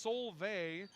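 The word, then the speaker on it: Solveig: It's s o l v ei g, but it's pronounced soul. I believe that's a good old Scandinavian name if I'm not mistaken.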